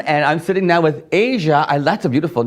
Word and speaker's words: Aja: Yeah, Good, the future is in good hands with young people like Yes, Aja it's encouraging, Notte.